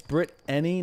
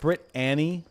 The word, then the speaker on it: Brittany: It's Brittany, not Brit Annie.